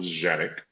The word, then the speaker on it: Canik: So we we we pronounce it Canic in the United States. Uh the origin of it was Janik uh like kind of like with a J actually the it comes